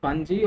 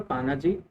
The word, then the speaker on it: Panaji: the case study of panagio it is pronounced as panji or panaji of power so it